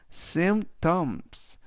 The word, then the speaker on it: symptoms: 이때 P는 묵음은 아니지만 발음할 때 거의 들리지 않고요. 그래서 symptoms 라고 붙여주시면 되겠습니다.